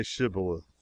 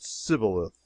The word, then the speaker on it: Shibboleth: who could not say Shibboleth. The Ephraimites, being of a different tribe, could not frame to pronounce the word right, but called it Sibboleth, which proved them enemies and cost them their lives.